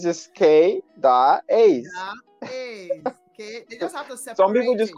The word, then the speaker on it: Kay Da Ace: even want to go there like it's just k da a's okay some people just call me that ace